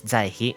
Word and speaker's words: Zaihi: It's pronounced as Saixi in Chinese, and the hanzi means something like to compete or to surpass, and to hope or to admire. Meanwhile, the Japanese pronunciation is Zaihi, without any inherent meaning.